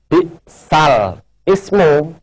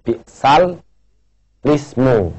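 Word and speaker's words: بئس الاسم: Kemudian yang bawah ini, ya, bisal ismu, cara bacanya ismunya dibaca lismu, ya, walaupun tulisannya bisal ismu tapi wajib dibaca bisal lismu, ya, ismu diganti dengan lismu, ya. Jadi bacanya bisal lismu.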